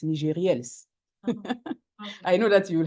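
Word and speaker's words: Nigérielles: Abigail, by the way, it's NIGERIELLES. I know that you will have the hard time to pronounce it because it's in French.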